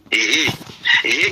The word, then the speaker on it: ה: Le H est Hé qui signifie la louange. Hé qui signifie la louange et la valeur numérique c'est 5. Donc, apostrophe, et ça se lit Hé.